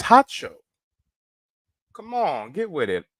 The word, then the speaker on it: Harjo: pronunciate his name right it's not hard Joe it's hot show come on get with